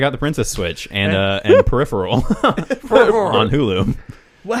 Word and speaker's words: Peripheral: Go check out the Princess Switch and Peripheral on Hulu. Well, how do you say it? It's Peripheral, but you said Peripheral. All right. Like the band Periphery, but then with an eel at the end.